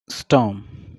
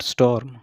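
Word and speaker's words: storm: Correct pronunciation क्या होगी, स्टॉर्म, नॉट स्टॉर्म, okay, are silent है।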